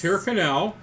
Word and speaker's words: Tyrconnell: Yeah, how do you pronounce this? Tyrconnell.